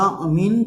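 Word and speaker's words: amine: तो यहाँ पर देखें हम क्या होगी, 6 है, ये क्या है हमारा, जानते हैं आप इसको अमीन प्रोनाउंस करते हैं, न्यूट्रल लिगेंड है ये।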